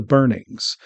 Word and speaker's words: Beornings: therefore the name of the tribe is the Burnings. So, the AI obviously learned how to pronounce these names from people talking about the movies.